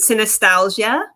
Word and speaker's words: Synesthesialgia: oh yes yes okay so i pronounce it synostasia and part of the reason why i pronounce it that way too is just because i wanted it to kind of have like a similarity to nostalgia because a lot of nostalgias dealt with in this book in terms of familiarity